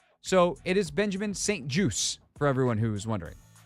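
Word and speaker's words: St-Juste: name is said Benjamin St juice as in a juice box as an apple juice orange juice it is French Canadian uh or Canadian French more specifically uh it is there's no T pronounced this is something that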